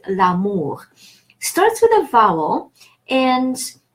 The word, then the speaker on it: l'amour: with a vowel A, then the E from the article drops and we have an apostrophe that then links the two words and they are pronounced as if it was one word, l'amour.